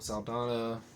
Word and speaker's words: Saldana: Chris Pratt, Batista, Zoe Saldana.